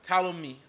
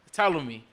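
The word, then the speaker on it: Ptolemy: old boy name again talami talami II no not P it's a Greek word you don't pronounce the P everyone does that you me talom me his name yeah you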